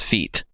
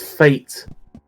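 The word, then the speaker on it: fête: No, it's fate. It's pronounced Listen, fate. listen. Read my words. It's read my lips. pronounced a church fate. It's not a feet. It's not a fucking feet.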